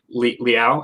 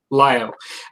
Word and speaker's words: Liao: Not to digress, but I kind of taken a little interest in your Lao videos because it's Lao, right? It's pronounced for the faction, Liao, L-I-A, Liao, because that's kind of my faction too.